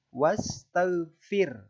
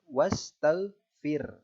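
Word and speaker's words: واستغفر: maka kemudian itu artinya huruf ra yang dibaca tipis ya kalau Ro tafkhim tadi dibaca tebal kalau ro tarqiq dibaca tipis cara membacanya adalah huruf ro dibaca tipis dengan menarik bibir sedikit mundur wastaghfir wastaghfir hukum ro itu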